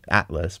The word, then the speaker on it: Atlas: his name is atlas Atlas but we pronunciate it the Turkish way Atlas another God the